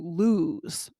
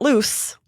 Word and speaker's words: lose: And it has that Z sound, lose, Lose. because we're Hmm. talking about time here. Hmm. And we're not loose, but Right. lose.